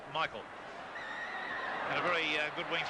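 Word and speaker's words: Michel: Incidentally, his name is spelt M-I-C-H-E-L, but he prefers Michael.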